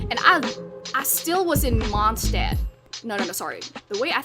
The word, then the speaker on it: Mondstadt: And I still was in Mondstadt. No, sorry. The way, I think you don't pronounce it as Mondstadt. I think the correct way to pronounce it is Mondstadt, because it's German.